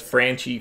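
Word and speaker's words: Franchy: Padres bats, I guess Hosmer, or is it, how do you pronounce the guy who's leading off for San Diego? I'm Frankie? Saying it as Franchi Cordero.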